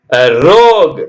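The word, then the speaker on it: rogue: flu fla g இடிய நோய் plague plague plague ரோக் ரோக்னா கொடியவன் ஆர் ஓ ஜி யூ இ ரோக்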